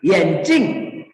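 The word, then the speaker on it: 眼镜: kalau di kacamata ya kalau di kacamata itu Cing yencing Nah itu nada keempat yencing itu itu artinya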